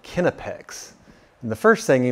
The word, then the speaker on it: Knipex: have ever heard of this company is called kinnipex and the first thing you may notice is that it's not pronounced the way you thought it was this